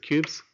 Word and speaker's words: Qbs: started talking about cubes this is qbs they pronounce it cubes it's a new build